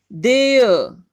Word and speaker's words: there: देयर, are silent है।